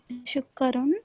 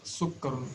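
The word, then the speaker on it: سُكَّرٌ: Not shukkarun. It is sukkarun. Seen. Shukkarun. Not sh. It is sa. Sukkarun. Haza sukarun wazalika labanun. Correct. But now you have pronounced sa correctly, but you haven't emphasized on the alphabet ka.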